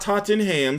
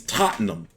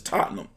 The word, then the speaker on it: Tottenham: stay them in Tottenham it's not Tottenham somebody reached out to me from the UK and told me it's Tottenham all right but it's spelled Tottenham but it's Tottenham they're dead arena seats